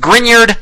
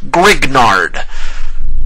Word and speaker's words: Grignard: And yes, that is pronounced Grignard, not Grignard.